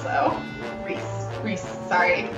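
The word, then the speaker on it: Rhys: Reese sorry it's okay when I first play this game I mispronounced his name for like ever because he's not important enough to get his name pronounced in the narration oh God I think I called him I think I called him rist for a long time we're running out of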